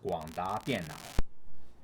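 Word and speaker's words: 廣達電腦: And it's a Taiwanese company, and in Chinese it is pronounced 广达电脑.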